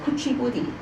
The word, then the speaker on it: Kuchipudi: 次啊？OK，咁阿 Sir 講咧，Kuchipudi。 Kuchipudi. Kuchipudi. Okay, can you pronounce it again?